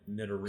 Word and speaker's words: Nidorino: think it's Nidoran, Nidorino. So I think it might be pronounced the same way as like Ditto.